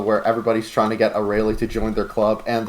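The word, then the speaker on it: Arale: Aurelie, okay. That's how you pronounce it.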